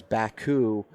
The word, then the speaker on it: Bakcou: And so stress on the syllables is where we went to BAK, and we still have people all the time put the C in front of the K.